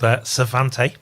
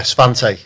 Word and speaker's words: Svante: But anyway, Ben, you've got a company called Svante. Have I pronounced that right? You have, yeah. Svante, yeah. Svante, yeah.